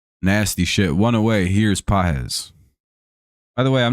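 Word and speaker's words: Pagés: Here's PZ. By the way, I'm not saying this person's name wrong. It's pron it's spelled P A G-S, but it's said like P A H SI Suzaki pitching game three.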